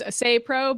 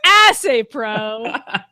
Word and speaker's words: Assaypro: I thought it was Assaypro because I'm assuming they don't want to emphasize the ass in their name. I just assumed it was ass. Assaypro.